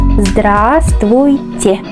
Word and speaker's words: Здравствуйте: Zd, zd, después r, zdr, zdr, y recordamos la A, zdra, zdra. Después S, V no se pronuncia, y sabes por qué. Zdrast, zdrast, vuy. Recordamos y, ch, che. Здравствуйте.